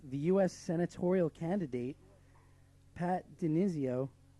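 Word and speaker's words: DiNizio: senatorial candidate, Pat Denizio. Denizio, did I say it right?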